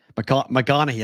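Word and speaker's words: McConaughy: How do you say it? McConaughey. I think it's Western Nebraska. Okay, so that's like Matthew McConaughey. Yep. Same thing.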